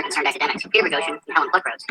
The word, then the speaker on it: Helen Pluckrose: Since approximately June of 2017, I, along with 2 other concerned academics, Peter Bogosian and Helen Pluckrose, that's how you pronounce it, academic papers and submitting them to highly respected journals in fields that study gender, race, sexuality, and similar topics.